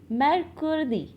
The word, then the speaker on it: mercredi: That is M-E-R-C-R-E-D-I. M-E-R-C-R-E-D-I. Yes, how we will pronounce in French?